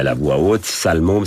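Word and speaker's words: Salle Mômes: Alors, justement, puisqu'on est à la voix haute, salle môme, ça s'écrit salle, plus loin, môme, M-O-M-E-S. Voilà, c'est pas un sale môme.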